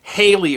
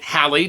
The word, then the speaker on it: Halley: whether that's halle or haley or holly today people with the surname halle tend to prefer the pronunciation that rhymes with the word bally but the musician bill